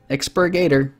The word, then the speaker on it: Expurgator: got it got it expurgator expurgator that's four syllables not five and hand for unreachable